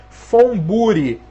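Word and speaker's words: von Buri: maior expoente maior representante furi tá certo fbri é com V mas se pronuncia F furi né O que que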